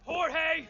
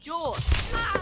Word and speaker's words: Jorge: Last one up gets it, Jorge! My name's pronounced George. Damn. Backtalk me, Jorge!